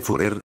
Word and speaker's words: Führer: visita de adolf hitler de führer que bruno comúnmente pronuncia mal como fury el padre de bruno